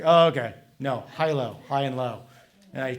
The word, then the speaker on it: Hilo: Hilo it's like yeah it's like okay no high low high and low and I probably should check